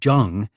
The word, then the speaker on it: Jung: The jung came not from any Chinese ancestors as most people assumed before they saw him in person. It was Dutch pronounced with hard J.